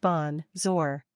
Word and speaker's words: bonjour: literal translation is good day the word is pronounced Bon zor three say salad for an informal greeting the